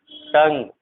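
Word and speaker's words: tongue: पर जो है डायलॉग, इस तरह के जो वर्ड है इन सब में जो है यू साइलेंट होता है, यानी यू के जस्ट बाद अगर कोई सा भी इसमें से चार लेटर में से कोई सा भी अगर आता है तो यू साइलेंट होता है, ध्यान रखना।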